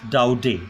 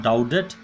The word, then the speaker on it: Daudet: a doubt it Alphonse it doubt it Alphonse Doughty not doubt it Alphonse Alphonse Alphonse doubt is this is French pronunciation you have to be very very clear